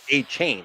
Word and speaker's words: Achane: Devon Achane, what is it again? Achane. Achane. I still can't pronounce the fucking guy. Yeah, it's like A-Chain, right? I have A-Chain.